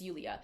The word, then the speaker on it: Yulia: She had to correct him a few times when he would say Julia on the podcast and she's like, "It's Yulia."